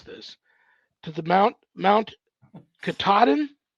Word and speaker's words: Katahdin: top of, and Barry told me how to pronounce this, to the Mount Katahdin. Katahdin.